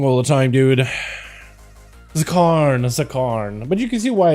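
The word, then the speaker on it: Zskarn: Zakarn. But you can see why it said Zark, right? I just like ignored the S, but also ignored the K.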